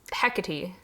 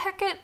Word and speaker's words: Hecate: So then I had another mispronunciation. It's Hecate. I haven't actually seen anything by Percy Jackson for what it's worth. Also, I'm pretty sure in Macbeth they do actually pronounce it Hecate, so...